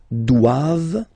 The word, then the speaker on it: doivent: And then the last one, ils doivent, so same thing, classic ending for the plural form, ENT here, okay, but then you don't pronounce it.